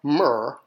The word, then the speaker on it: mr: So we just need to pronounce mr, mer, which means love.